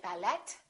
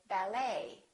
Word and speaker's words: ballet: the E ending and in the French language the t is almost always silent so English speakers pronounce it the same way we don't say ballet we say ballet a few more ET